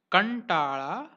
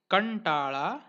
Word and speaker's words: कंटाळा: Third rule, if the nasal dot is followed by characters t, th, d, dh, ण, then dot is pronounced as ण, ण. Examples, कंटाळा, कंटाळा, सुंठ, सुंठ, भांडे, भांडे, षंढ, षंढ.